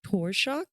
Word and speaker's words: Torshock: Torshock, is that how you say it? Yes, it's Yes, it's it's right like to shock basically.